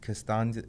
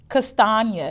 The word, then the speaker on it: Castagna: Costanza. I can't pronounce her name right. Castagna, because she said it rhymes with lasagna.